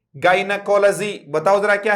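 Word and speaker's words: gynaecology: बताओ जरा, फिर से बोलो, वर्ड क्या है, जाई नहीं है, गाइनकोलॉजी।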